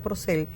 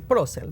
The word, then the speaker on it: Procel: Se pronuncia Procel porque el apellido es de origen francés. Y tal como la familia me lo enseñó a pronunciar, lo sigo pronunciando yo, aunque existe la tendencia a decir Procel, ¿no?